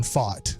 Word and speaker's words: Pfaadt: let's go to tonight's rookie pitcher, Brandon Pfaadt. Okay, even though you're going to be like, "Are you sure you're pronouncing that right?" I told you that's how it was. I actually am.